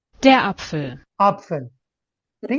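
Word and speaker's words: Apfel: masculine feminine neutral का articles है वो क्या अपफेल अपफेल ठीक है अपफेल मतलब एप्पल ठीक है अपफेल एंड अभी ये वाला वर्ड देखो ठीक है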